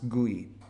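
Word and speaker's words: GUI: we don't have a guy this usually is pronounced guy graphical user interface excuse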